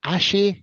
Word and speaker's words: Asahi: I do like a Moretti or a Peroni or is it Ashi? Is that how you say it? I can never pronounce it Asahi, right.